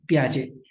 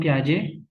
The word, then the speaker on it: Piaget: Jean, John, Piaget, प्याजे। इनका टी तो silent नाम है, मगर उनका जो पांच नंबर है वो आपसे कोई नहीं छीन सकता।